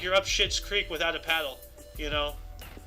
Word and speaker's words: Schitt's Creek: In 2015 TV comedy, I hope it's pronounced Skits Creek. Nope. Oh my god, no. It's Schitt's Creek, dude.